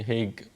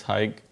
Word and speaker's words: Haig: Uh, Usually everybody messes it up here. They say Haig or Hug or Aik or Papazian, Papazian, all of it. So one more time, it's Papazian and it's Haig Papazian.